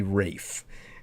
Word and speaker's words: Ralph: on the spelling, but his first name is definitely Rafe, and very unusual name,